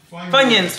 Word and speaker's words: Funyuns: Funyuns, funyuns.